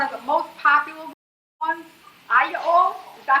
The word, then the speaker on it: aglio: Aglio, is that how you say it? Hallelujah. Aglio, I said it right.